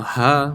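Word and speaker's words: ح: the two letters were Ha and Ain. These are from the center, and this from the bottom. Now Ha, when you pronounce it, is just a breath.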